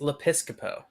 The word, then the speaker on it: Lepiscopo: say it right colin it's le piscopo episcopo like joe piscopo but le pisco like